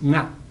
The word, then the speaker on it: nga: One notorious thing about Navi is that it has this NG sound at the beginning of a word. So the word for you is nga, N-G-A.